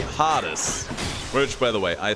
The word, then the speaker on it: Hades: of the game himself we'll call him Hades we say hottest which by the way